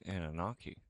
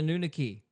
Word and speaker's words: Anunnaki: So, sounds like Anunnaki. Yeah, Anunnaki. Anunnaki. Anunnaki. Same thing. Yeah, I'm just mispronouncing it because I'm an idiot. I'm I'm surprised you know the correct pronunciation and I don't. I've been calling them the Nunaki for My